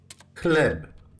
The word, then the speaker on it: chleb: So, like chleb. So ch is the chleb. Please take note that it is pronounced the same as the single letter ha.